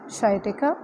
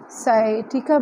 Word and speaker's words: sciatica: जिस बीमारी के बारे में मैं आज आपको बताऊंगी वो है शाइटिका। इसका प्रोनाउंसिएशन जो है वो साइटिका भी है और शाइटिका भी है।